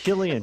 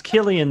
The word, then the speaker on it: Killian: Killian. He's Killian the game. It's Killian. Because if there's one thing I've learned, is that Irish like a hard C.